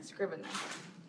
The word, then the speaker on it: Scrivener: Scrivener.